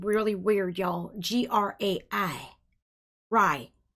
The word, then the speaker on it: GRAI: Rye... It's Rye... It's actually Rye... G-R-A-I The "G" is silent.